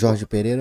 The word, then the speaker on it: Jorge Pereira: Jorge Pereira.